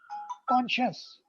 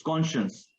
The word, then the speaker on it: conscience: Conscious, Yeah, conscience. Okay, conscious, instead conscience. So instead of saying conscience or conscience, it's conscience.